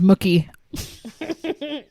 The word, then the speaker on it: Mookie: okay his name is Mookie how do you even spell that m-o-o-k-i-e yeah it's like cookie it's like what there's no way yeah that serious like um he's 24.